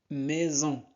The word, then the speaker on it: maison: Myriam, Myriam sort, sort, on ne prononce pas T, sort de la maison, maison. S entre deux voyelles se prononce Z, maison.